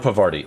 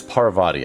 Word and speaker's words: Parvati: It's not Pavari. It's Parvati. I keep saying the name wrong.